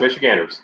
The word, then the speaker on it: Michiganders: Yes, Michiganders, yes.